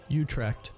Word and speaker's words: Utrecht: apparently a university there let's look at the pronunciation Utrecht Utrecht Utrecht Utrecht Utrecht okay alright alright we